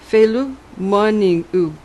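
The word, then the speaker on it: Féile na Marbh: This was File na Marb, pronounced Felu Moniu, the feast of the white-haired one, the snow goddess.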